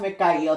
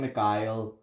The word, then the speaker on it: Mikhail: It's pronounced Mikhail, but everyone calls him Mikhail.